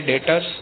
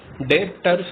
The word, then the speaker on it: debtors: अब हमारे दो टर्म्स आती हैं, एक आता है डेटर्स और एक आता है क्रेडिटर्स। देखिए DEBTORS डेटर्स, B will be silent, डेटर्स नहीं होगा, ये डेटर्स होगा।